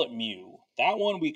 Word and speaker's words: mu: like an m right so we call it mu okay that's how it's pronounced okay now let's say I get a average but not from the population just from the sample well we don't call it mu that one we call X bar we say